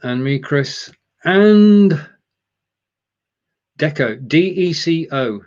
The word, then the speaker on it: Deco: Okay, so going on, and me, Chris, and Deco, D-E-C-O. There's no K. It's not like gecko. It's Deco, D-E-C-O.